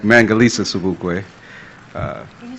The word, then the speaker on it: Sobukwe: My name is Sobukwe, and I am spell it? Okay, S-O-B-U-K-W-E, like Mangalisa Sobukwe.